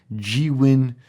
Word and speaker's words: Zhiyun: you a brilliant review of the then new g-win we built 3 and it's now time for an update and yes that is the correct way to say it g win and I've been saying it wrong my entire